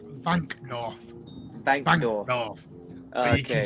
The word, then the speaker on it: Wankdorf: What, you want the Wankdorf? Yeah. It's not. It's actually pronounced Vankdorf.